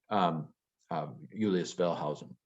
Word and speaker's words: Julius Wellhausen: Julius Wellhausen. See, even Julius, his first letter of his name is pronounced with a Y.